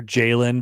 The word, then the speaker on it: Jalyn: Remember the young gentleman who was the NAIA Player of the Year, Jalen, but his name is spelled Jalyn, not Jayln.